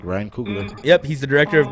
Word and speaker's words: Coogler: Ryan Coogler.